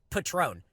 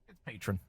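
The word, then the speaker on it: Patrón: hang on it's pretty it's pronounced Patron just so you know go ahead Patron okay just let you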